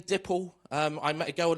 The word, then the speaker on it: Dipple: said, hi, my name's Dipple. And she looked at me and said, nipple? I said, no, it's like nipple, but it's spelt with a D.